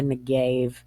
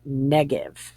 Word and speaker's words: Negev: this is spelled changes, and people call it the Negev, but it's Negev.